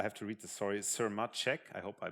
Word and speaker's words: Sirmacek: dr i have to read the story sir machek i hope i pronounced it well from the yucapang university in